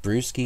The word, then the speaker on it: BRSKI: in a secure way why is it called brewski and how is it pronounced well it's pronounced like a cloak ilysm